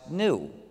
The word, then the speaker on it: gnu: seen a bunch of gnus. But actually though, the word gnu is the most humorcharged word in the English language because according to the dictionary, it's pronounced new.